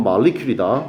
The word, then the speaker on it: molecule: 발음은 molecule이다.